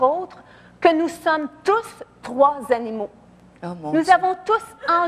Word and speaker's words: Troie: Trois comme 3.1416. Trois comme le cheval de Troie. Ben oui, ça tombe sous le sens, ça aussi. Ça s'écrit avec un E, mais c'est trois quand même.